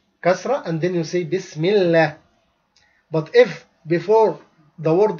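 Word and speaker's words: بسم الله: Like for example, when you say Bismillah, you say Bismillah, you don't say Bism Allah. You make tarqiq.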